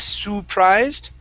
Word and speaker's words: surprised: Here, this word, instead of surprised, okay, the UR is pronounced sir, surprised. Try that. Stress at the end of the word.